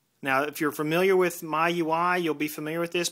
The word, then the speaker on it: MIUI: new release of the my UI ROM for the Samsung Infuse 4G that is the Mi UI ROM not sure if you pronounce it my UI but that's how I pronounce it so let's go ahead